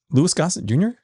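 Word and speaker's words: Louis Gossett Jr.: Lewis Gosset Jr., right?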